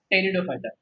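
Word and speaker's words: Pteridophyta: Just remember this, इसका जो पी है ना दैट इज साइलेंट है। कई लोग इसको पी बोल लेते हैं, बट पी बोलने के बाद ये स्पेल करना ही डिफिकल्ट हो जाता है। This P is silent.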